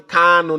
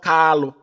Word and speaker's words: Kanu: Mazi Nnamdi Kanu, not Kalu. Mazi Nnamdi Kanu, not Kalu. Our leader's name is not Kalu, it's Kanu Kamanu Ozuzu. K-A-N-U.